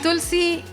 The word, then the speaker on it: Tulsi: So and Tulsi rhymes with Missy, so I call her Tulsi lovingly.